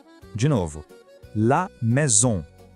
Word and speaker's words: maison: A pronúncia é assim, la maison. De novo, la maison. Presta atenção nesse som bem nasal no final de maison, sabe?